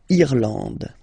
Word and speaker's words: Irlande: Okay, A-N, en, D, and final E, not pronounced. Irlande.